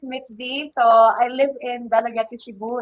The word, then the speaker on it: Dalaguete: The proper pronunciation, according to my history teacher, is Dalaguete. And even Dalagete. sa mga official, yes, even sa mga official communication sa amo ang municipality, it's pronounced as Dalaguete.